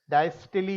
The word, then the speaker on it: diastole: The word for relaxation is diastole. Diastole is the pronunciation.